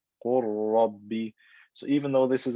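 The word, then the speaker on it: قل رب: So instead of saying qul rabbi, I say qur rabbi, qur rabbi. I merge the lam into the ra and it becomes one ra with shadda. Qur rabbi.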